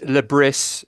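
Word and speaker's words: Le Bris: interesting one actually uh reice lebris is how I think you say it's a kind of Parisian uh pronunciation so You' think it would be lab which would obviously be a headline writer's dream but no got lauron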